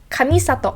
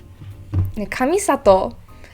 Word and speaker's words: Kamisato: um but we have kamisato ayaka kami sato again in english i always hear kami sato always going for that second and third syllable it's kamisato ayaka now ayaka or i think